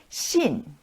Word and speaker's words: 信: ado let's get started shin shin fourth tone the tone goes down shin to believe the